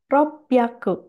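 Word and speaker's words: 六百: 400 yongyaku, 500 gohyaku, 600 ropyaku. Hati-hati ini juga cara pengucapannya khusus. Ropyaku.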